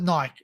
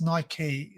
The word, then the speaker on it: Nike: night we see some some call it Nik it's it's pronounced Nike Nike Nike Nike yeah um